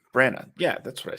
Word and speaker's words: Branagh: Brenna. Branagh.